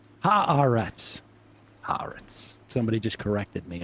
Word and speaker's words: Haaretz: I saw Mom Donnie shared that Haaretz article today. Oh, he did? Mm-hmm. Well, that's part of the global jihad that Christian Gillibrand was talking about, spreading Haaretz articles. That's right. Haaretz.